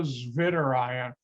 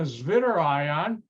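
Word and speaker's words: Zwitterion: as what's called the zvitter ion i'm using the german pronunciation mainly because the word comes from german spy which is two ions two ions and a zvitter ion will look like this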